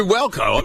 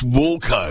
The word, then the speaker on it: Walco: well coat wall coat why wouldn't it be welcome it's not it's warco it doesn't really matter how you say it as long as you've